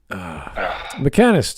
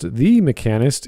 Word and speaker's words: The Mechanist: But Mechanist, how are you doing? It's pronounced the Mechanist. It needs the. Okay. The Mechanist. All right. Yeah. Mecha and Nist.